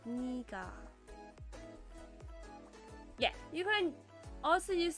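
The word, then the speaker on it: 네가: In order to distinguish the pronunciation of 내가 and 내가 from each other, which technically should be pronounced the same, 내가 is pronounced 니가.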